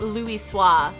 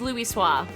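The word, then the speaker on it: Louisoix: Never more certain have I been that Master Luis Swahis watcheth over us from the athereal sea. I pronounced his name right because I remember it's pronounced Louis Swah.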